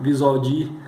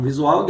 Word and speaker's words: Visualg: Ele falou que não é Visualg ou, sei lá, Visualdi. Não, é Visualg, a pronúncia correta. O Visualg é um programa, ele é um pouco mais antigo, né?